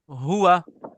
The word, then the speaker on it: هو: अच्छा, अब आप लोगों ने तीन प्रोनाउंस याद करने हैं। एक है अना, बोले अना। أنا أنا हुआ هو और हिया, هي ठीक है।